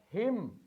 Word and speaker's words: hymn: We have hymn. Here N is essential, but the letter is silent. So it is not column, it is column, it is autumn, it is hymn, it is hymn, not hymn.